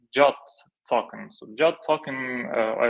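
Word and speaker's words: JWT: Then when users authenticate to Cognito, they will get like JOT token.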